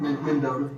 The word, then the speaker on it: Mendota: That's right, Mendota, M-E-N-D-O-T-A, Virginia.